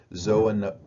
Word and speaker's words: zoonoses: So this is pronounced zoonoses, which are diseases in which the reservoir resides in an animal population. That's where you get, you have the zoo here, right?